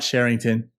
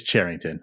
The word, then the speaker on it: Cherington: It is not Cherington. It is Cherington.